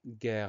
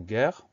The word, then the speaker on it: guerre: Alors, première syllabe gay va s'écrire G-U pour avoir le son G. Et E accent grave pour avoir le son E, parce qu'on prononce guerre.